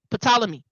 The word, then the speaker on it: Ptolemy: Ptolemee. Right? Ptolemy.